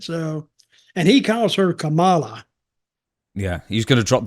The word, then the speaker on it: Kamala: Not Kamala, because it's not spelled like Kamala or Pamela.